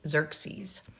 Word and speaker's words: Xerxes: When Darius the Great's son Xerxes, and right here I'm just telling you how to pronounce it, so that first X is like a Z, Xerxes, became king, the Persians launched another expedition against Athens.